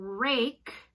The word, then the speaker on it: rake: And you need the silent E at the end to make that a long A. If you did not have that E, it would say rack.